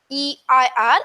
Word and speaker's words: heir: Though it is H-E-I-R, it is pronounced as heir.